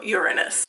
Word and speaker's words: Uranus: on television and so they decided to officially change the pronunciation of Uranus to Uranus um the more you